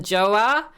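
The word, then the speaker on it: 좋아: like you know like and then joa is in j-o-a just joa like niga joa so you could kind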